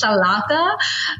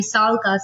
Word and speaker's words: Sallqa: So now I'm having this pronunciation issues with the name because people are calling it Salaka, which like I said, the A is silent. It's actually Salka.